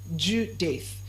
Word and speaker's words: Judith: J U D I T H. J U D O I T H. I said the name is pronounced as what? Judith. It's pronounced as what?